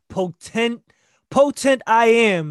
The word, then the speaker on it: Potentiam: Listen, this is potent I am is how I like to say it.